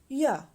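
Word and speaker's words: jeg: In Danish, we will pronounce it as ja.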